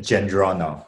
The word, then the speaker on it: Djendrono: part up oh uh the d is silent so you said it gendron okay i thought that